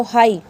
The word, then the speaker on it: high: HIGH vowel के बाद जी आया तो हाई।